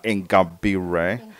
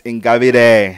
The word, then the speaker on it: Ingabire: She's pronouncing it the English style, Ingabire. It's Ingabire.